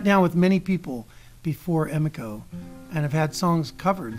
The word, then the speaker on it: Emiko: It's Emiko. I've been saying your name wrong all this whole time. Emiko? Yeah, okay. If you say Emmy and Co. Emiko.